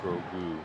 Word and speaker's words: Grogu: I'm glad the pronunciation was on that read. And Grogu. Grogu? Grogu.